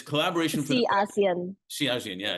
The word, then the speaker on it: ASEAN: you're the managing director of, now is it pronounced it's collaboration for the ASEAN.